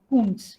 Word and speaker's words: Koontz: Spelling is KOONTZ. Author's name is KOONTZ. Kuntz.